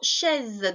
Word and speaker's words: chaise: Ensuite, le mot chaise, donc le nom, une chaise au féminin. Attention, le son est qui s'écrit avec AI et le S, un seul S qui fait Z entre deux voyelles.